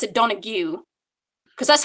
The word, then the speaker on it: Donoghue: he was from Island no area well I pronounce it Donna Q because that's how my grandmother announces it it's